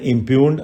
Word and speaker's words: impugned: Next word है इम्प्यून्ड. आपने सुना होगा, मैंने पहले भी बताया है. IMPUGNED. इम्प्यून्ड में जी जो है साइलेंट होता है. इम्प्यून्ड ही बोला जाएगा आपको.